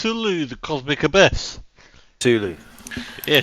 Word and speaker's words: Cthulhu: Uh first one is How do you pronounce this? It's Cthulhu: The Cosmic Abyss. Cthulhu. Yeah, Cthulhu.